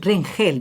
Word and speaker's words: Rengel: O Rengel, ¿cómo lo debo pronunciar? Rengel. Rengel, más exactamente.